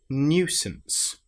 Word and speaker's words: nuisance: So surely and then the last word is nuisance. This is the new rather than just new. It's new. We've got the y sound in there as well.